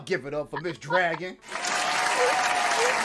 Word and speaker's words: Jragon: My name is Dragon. It's spelled with a J, but it's pronounced the same as Dragon.